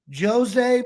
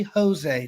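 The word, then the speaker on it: José: in the special one Josie Mourinho and I will not call you Josie you were always going to be Jose to me because that's how it's pronounced so Jose Mourinho the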